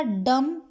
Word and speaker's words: dumb: यहाँ पर देखो, हमने क्या देखा, डम और डेप्थ में बी साइलेंट हो गया।